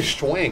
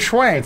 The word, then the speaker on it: Swank: Why'd you say schwank? Hilary Swank. Swank. Hilary Swank.